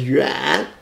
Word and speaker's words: 远: Pronounced as yuan, y-u-a-n. 三声, third tone, 三声, yuan.